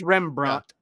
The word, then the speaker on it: Rembrandt: Did I pronounce that right? Rembrandt cheeky today. It's Rembrandt.